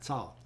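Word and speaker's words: Tsoar: Tsar.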